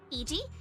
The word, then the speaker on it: Eg: Ah, his name is Eg. Finally, after this is my third stream on this uh event and I finally learned how to pronounce his name. EG.